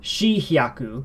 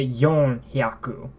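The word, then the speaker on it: 四百: You don't say shi hyaku, you say yon hyaku.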